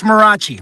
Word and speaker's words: Marachi: It's Marachi. Marachi's fine. It gets butchered all the time, so don't worry about it.